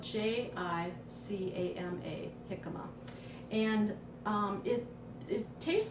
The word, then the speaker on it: jicama: It's spelled Jicama, jicama.